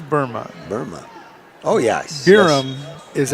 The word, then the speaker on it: Burma: Birma, I think is the way they pronounce it, isn't it? Nope, this is Burma.